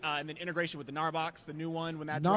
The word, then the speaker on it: Gnarbox: Gnarbox. Is that? Yep. Yes, I got it, man. That's it. The G is silent. Right. There was no need to put it there.